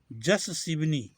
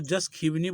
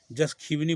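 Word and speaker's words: यशस्विनी: पूसा, सातवां जस शिवनी, इसको जस खीवनी बोलते हैं, इसलिए जस तो है ये ज तलबे स, खीवनी इसलिए होते मूर्धन्य स का आधा होता है, ख का उच्चारण होता है वह नी, जस खीवनी बोलिए, जिसको शिवनी अभी बोल रहे थे हम।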